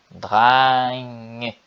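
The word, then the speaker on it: drenge: Então aqui a pronúncia é bem sutil no final, né? Drang. É com som de E mesmo.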